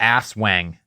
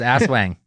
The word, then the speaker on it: Aswang: The ass wang. No joke. The ass wang. The ass. The I'm wang. not gonna correct your pronunciation.